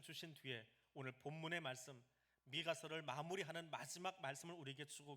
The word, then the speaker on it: 미가: 이 18절 말씀의 제일 첫 번째 문장을 히브리어로 읽으면 미엘 카모카라고 합니다. 미엘 카모카를 조금 빨리 발음하면 미엘 카모카, 미가가 됩니다. 미가의 이름 뜻이 주와 같은 신이 어디 있습니까? 라는 말입니다. 18절 제일 첫 문장을 축약으로 만들어 놓은 것이 줄임말이 미가예요. 미엘 카모카를 줄인 게 미가예요.